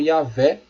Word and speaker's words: Yahvé: Entretanto, aos poucos, esse nome vem sendo substituído pela forma Yahvé ou Javé, que é a pronúncia mais próxima do original.